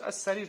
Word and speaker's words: السرير: идет алиф, артикль аль, обязательно там идет ударение, если это шамсия. А син у нас шамсия, как ас-самак, да? Мы же брали ас-самак. Значит, ас-сарир то же самое.